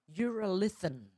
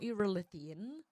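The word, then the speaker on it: urolithin: Uralithan, not uraly.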